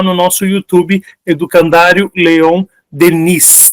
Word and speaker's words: Denis: São opcionais e estão todos lá no nosso YouTube, Educandário Leon Denis. Tem esse S no final, né, que não é pronunciado, mas se escreve com esse szinho aí no final.